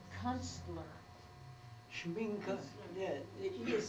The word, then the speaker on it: Schminke: Schminky, and it says Kunstler. Schminke, yeah, he is silent, but Oh, yeah, you pronounce it.